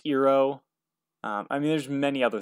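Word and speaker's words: Iroh: aang is pronounced ong iro is pronounced ero i mean there's many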